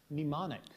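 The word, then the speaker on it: mnemonic: i c philippic correct quickly there from Sam nimonic pneumonic can I have the definition please assisting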